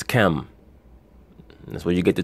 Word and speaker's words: Ham: The Canaanites are the offspring of Ham, or as he's known, or as that word is pronounced in the English, Ham, but as it's really pronounced, is Chem.